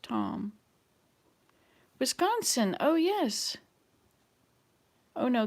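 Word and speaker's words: Thom: r i c e t h o m pronounced tom wisconsin oh yes oh no that's regina okay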